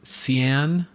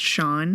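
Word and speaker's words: Seán: in this story and she pronounced it Cen Murphy uh like an American not knowing S A an is pronounced Shan right exactly so she read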